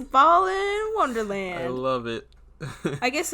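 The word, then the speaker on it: Balan Wonderland: It's Ballin Wonderland.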